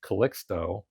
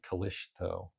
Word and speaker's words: Calixto: There This is your base non-player flowchart for the base bot, which Callixto places. Or really, it should be probably Callisto. If you wanted to pronounce it the way the Spanish would, although my Spanish pronunciation is absolutely terrible.